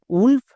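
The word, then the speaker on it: wolf: এর ক্ষেত্রে ব্যতিক্রম আছে যেমন নিচের শব্দে দেখো ডব্লিউ ও আছে এর জন্য কিন্তু সাউন্ড হচ্ছে না যেমন উলফ উড এই দুটো হচ্ছে ব্যতিকরণ নেক্সট পাঁচ নম্বর ডব্লিউ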